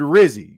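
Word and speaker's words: Rizzi: my vote uh for head coach rhymes with fizzy so of course we already know what that means I mean the word fizzy rhymes with Rizzy you know he's indicating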